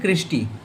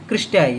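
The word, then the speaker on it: cristae: क्रिस्टी क्रिस्टाई अभी कोई-कोई क्रिस्टी कहते हैं, कोई क्रिस्टाई उसकी स्पेलिंग करते हैं। कोई बात नहीं क्रिस्टाई कहते हैं।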